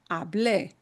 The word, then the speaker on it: hablé: And the only difference is that there's an accent mark on that e sound at the end, hable. And that really has to be punched.